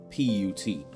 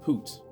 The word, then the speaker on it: Put: So you pronounce it like how you would P U T. Um, I think I even seen one version said Poot, but I'm going to say put cuz I